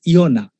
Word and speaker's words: Yonah: The Old Testament says Yonah. English Bible says Jonah. The correct Greek pronunciation is Yonah.